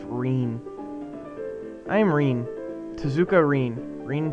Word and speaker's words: Rin: Ren I think yeah Devon told me it's pronounced Rene I'm Rene tzuka Rene